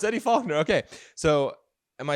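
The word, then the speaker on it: Eddie Faulkner: gotta get his name I want to say his name is Eddie fuler I I that's I could be wrong is it Eddie fuler let's go it's Eddie fogner okay so am I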